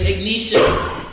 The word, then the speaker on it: Ignatia: Ignatia, right? which is what? It helps with breathing. What is that? What is it? How you say it? Ignitia. There it is. He had to correct me. Ignitia.